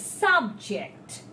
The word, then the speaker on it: subject: It's subject, so it's a noun. He is the subject of today's discussion. If I tell he is subjected to something, right? So his ject is strong, it's a verb.